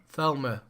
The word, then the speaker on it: Thelema: Thelma. But there's an E in there. There's 2 E's. Thelma. It's spelt Thelema. It's a silent E. Yeah, it's a silent. All right, it's French.